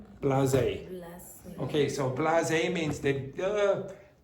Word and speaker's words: blasé: continue to be so, how do you pronounce that word? Blasé.